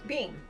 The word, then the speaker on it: Behm: Behm. Behm. Yeah. And it's spelled not like Beam, right? Behm. Okay.